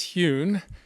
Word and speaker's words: Hyun: HYUN: Thank you. Hi, I'm Hyun, rhymes with fun.